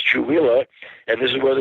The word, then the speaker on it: Chewelah: It's spelled Chewelah, Chewelah. And people say, that's a strange name. I don't know if I can remember that. I just remember Chewbacca. Chewbacca, and this is Chewelah, and this is where